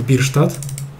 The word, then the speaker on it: Bierstadt: Tak słyszałem, że tak się czyta jego nazwisko. Albert Bierstadt.